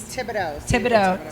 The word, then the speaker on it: Thibodeaux: how do you say your last name please thibodeaux sandra thibodeaux uh she comes from let me